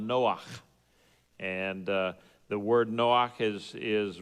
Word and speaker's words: Noach: In Hebrew, the name Noah is spelled Noach, and the word Noach is related to the Hebrew word for rest.